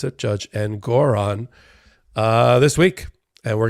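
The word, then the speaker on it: Engoron: sanctions with judge and Goron that's how you pronounce it judge and Goron uh this week and we're gonna see this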